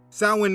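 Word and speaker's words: Samhain: Sin means summer's end. Just Google sin, summer's end, and you will see the date each year. Now, the word doesn't look how it's pronounced.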